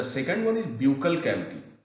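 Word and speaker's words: buccal: Then the second one इज ब्यूकल cavity, कभी कभी बकल cavity भी कहा जाता है। तो मोर करेक्ट प्रोनाउंसिएशन जो है इसका ब्यूकल कैविटी होगा।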